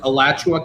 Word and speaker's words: Alachua: Thank you to these incredible teachers from out in, I think I'm going to say it right this time, Dr. Travis, Alachua County. You got it.